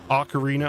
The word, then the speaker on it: Ocarina: Ocarina, I always say ank instead of Ocarina. I've always thought there was an N at the beginning of the word Ocarina.